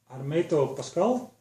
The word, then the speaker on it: Hermeto Pascoal: It's called The Lost Tapes by Hermeto Pascoal. You pronounce it that way.